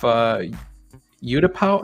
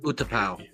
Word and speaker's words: Utapau: And it was in the last question, the one that Obi-Wan took off Utapau. How do you say the name of that planet? Utapau.